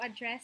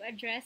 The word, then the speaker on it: address: what's your address okay it's a noun so usually the stress is in the first syllable but if it's a verb for example I have to address the nation or the president has to address the nation so address which is a verb is stressed in the second syllable